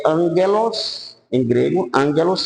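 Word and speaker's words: ἄγγελος: é angelos em grego Ângelos se pronuncia que significa nada mais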